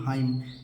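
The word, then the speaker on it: hymn: जो भजन कीर्तन उसे कहते हैं अंग्रेजी में हाइम। एन को नहीं पढ़ना है बच्चों, यह है अंग्रेजी का रूल है।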